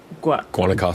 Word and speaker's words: Guanacaste: Guanacaste.